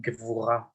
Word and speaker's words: Gevurah: The Sephirah of the Kabbalistic Tree of Life, the energy center that we meet this week, is called Gevurah. Gevurah.